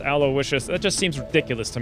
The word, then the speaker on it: Aloysius: Yes, I know it's pronounced Aloysius.